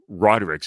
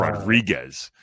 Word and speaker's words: Rodriguez: Rodriguez is how he pronounces it, but it's Rodriguez. You said it right. He pronounces it fucking wrong, but I got you.